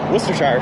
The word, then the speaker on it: Worcestershire: It's easy if you're from New England, you pronounce it like Worcester. Worcestershire sauce.